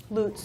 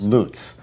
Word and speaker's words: Lutz: a cafe called Revelations Cafe in, is it pronounced Lutz? Lutz. Lutz, L-U-T-Z.